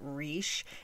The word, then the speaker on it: Risch: how to pronounce it it seemed like Rish was the most common pronunciation but some people pronounce it rich if I'm wrong I'm sure I'm gonna hear about it but we're going with Rish Joan was born on